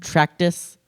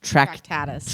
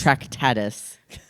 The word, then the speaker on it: Tractatus: Um, Tractus Chyromancier spelled differently this time. What? Where? T R A C T U S. Tractatus. Tractatus.